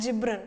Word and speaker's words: Gibran: that's that's about uh khalil gibran so some pronounce it as gibran but it's better to pronounce it as gibran okay she is a philosopher the the point